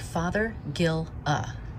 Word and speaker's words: Fothergilla: So it's pronounced like Fothergilla. Think of the word father, plus the word gill, like what's on a fish, and the well, that